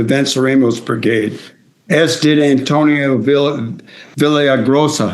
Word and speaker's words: Villaraigosa: As did Antonio Villaraigosa. How do you say that? Villa Villaraigosa.